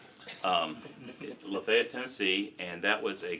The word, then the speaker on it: Lafayette: Uh then I went to work in a small town called Lefayet or Lafayette if you want to spell it. Um Lefayet, Tennessee and that was a culture shock for me in my life.